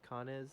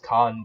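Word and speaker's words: Cannes: a con or can kanez can is i don't know how you pronounce that music con is like people say kane but i'm pretty sure it's khan the khan film festival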